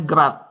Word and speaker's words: grad: lebih nah sifat-sifatnya ini Grat ini ya bacanya Grat ya vektor gradien tapi dibacanya gerat gerat dari f di titik